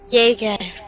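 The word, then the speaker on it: Jäger: Jaeger.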